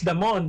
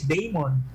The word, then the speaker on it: Damon: like this actor uh the family name is damon but my daughter is not god that is daemon named matt damon